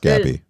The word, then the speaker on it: Gabby: So it is pronounced Gabby. What's up? It is pronounced Gabby, not Jabby. Yes, it is.